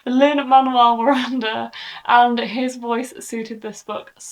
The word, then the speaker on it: Lin-Manuel Miranda: I've been saying his name wrong as well. Lin-Manuel Miranda, and his voice suited this book so, so well.